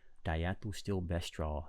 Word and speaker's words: diethylstilbestrol: Let's go to pronounce. Here we go. I don't want to see if, here we go. Diethylstilbestrol.